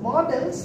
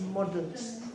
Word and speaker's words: modals: We don't pronounce it as models, but it is pronounced as models.